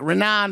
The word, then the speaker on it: Raanan: how everyone else pronounce my mom's just like renan my mom's like renan renan she she's American yeah yeah